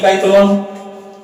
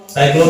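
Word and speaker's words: cyclone: साइक्लोन की काइक्लोन, साइक्लोन ना स से इसका उच्चारण करेंगे साइक्लोन।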